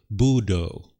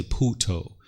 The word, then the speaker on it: Buddho: But in Sri Lanka, they will say Buddho. They don't say Puto.